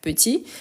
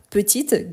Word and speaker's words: petit: c'est qu'ici on a petite grande féminin on prononce le T et le D à la fin petite grande ici on ne prononce ni le D ni le T grand petit ensuite on